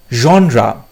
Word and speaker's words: genre: জনরা, GENRE, জনরা। জনরা উচ্চারণটা অনেকে জেনার করে, ঠিক আছে, জনরা করে অনেকে, জনরা, বাট আসল উচ্চারণ জনরা।